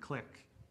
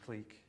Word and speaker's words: clique: some people i think some people pronounce this word click but i'm going to pronounce it clique if uh uv is